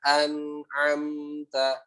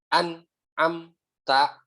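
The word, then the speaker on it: أنعمت: Siratal ladzina an'amta. Nun dan mim di situ ada gunahnya sedikit. Ya, jadi jangan an am ta, tapi an'amta begitu ya. Ada tahannya sedikit ya.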